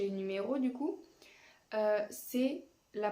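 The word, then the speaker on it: sept: se prononce pas et dans le cas du 7 on écrit un P entre le E et le T mais on ne le prononce pas on dit c'est tout cela sont des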